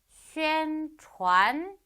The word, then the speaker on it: 宣传: 宣传宣传 자, 요거 같은 경우 여러분 성모가 CH인 경우에는 땡땡이 발음이 아니고 우 발음이니까 촨으로 읽어주시면 되겠죠?